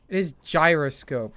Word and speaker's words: gyroscope: It is gyroscope, right? It's like with a J sound, not a G sound.